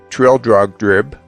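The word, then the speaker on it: Trildrogdrib: trial drug dub or Trill drug drib for it is pronounced both ways as near as I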